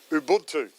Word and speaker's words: Ubuntu: There's a great term in Africa called Ubuntu, or Ubuntu, whichever way you want to pronounce it.